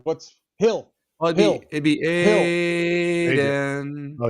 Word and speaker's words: Adin: Well, it'd be Adin. Oh, it's Adin.